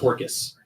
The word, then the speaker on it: Orcas: Mine's Orcas. That's orcas, like the whales, No, it's different. but plural. Yeah. It is pronounced Orcus.